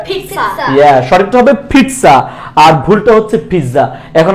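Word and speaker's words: pizza: বলার কারণ আছে এইটা পিজ্জা না এটার সঠিক উচ্চারণটা হচ্ছে ফিজা কি বলছি এটাকে আমরা ফিটসা কি বলি ফিটসা বলো ফিট ফিট ফিটস ফিট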